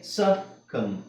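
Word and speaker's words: succumb: till ಅಲ್ಲ subtle subtle so ಇಲ್ಲಿಬಿ silent ಹಾಗೆ ಸಕಮ ಸಕಮ B silent ತಮ ಬಿ ಸೈಲೆಂಟ್ ಟೂಮ ಬಿ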